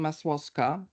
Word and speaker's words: Masłowska: The W in the name Masłowska is silent, because in spoken Polish it is silent, which once again shows one fundamental thing.